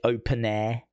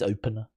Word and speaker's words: Opener: I think they pronounce it Open Air Festival, but it's Opener.